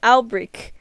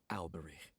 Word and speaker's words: Alberich: Okay, I've been saying his last name wrong. Alberich.